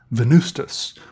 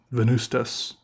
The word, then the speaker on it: Venvstas: Venvstas, and you know, this is pronounced like a U, but it's written like a V.